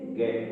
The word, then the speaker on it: get: इसी प्रकार GET, हम इसको क्या बोलेंगे, हमारा उच्चारण यहाँ जो साउंड आ रही है जी की जय न होकर के और गे की साउंड आती है, इसलिए ये गेट बोला जाएगा।